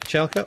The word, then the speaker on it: Michalko: Is Otto Michalko, is that how you pronounce his surname? Yep, Michalko.